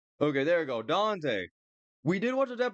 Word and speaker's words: Dante: Dende versus Clyde. Even though I have watched a death battle in Dende, by the way. I don't know to this day if that's how you say it. Dante.